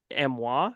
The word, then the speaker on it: Amiens: drawn and all that from Kristoff but that amoa France uh it's that's how you pronounce amen technically amoa France is a real